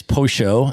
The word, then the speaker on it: pollo: I was just in Argentina 2 months ago, and there they pronounce the double L sound like a sh. So the word for chicken is pollo in Argentina, right?